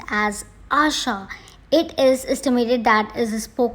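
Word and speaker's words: આશા: Next is hope, and I will write it in Gujarati and is pronounced as Asha.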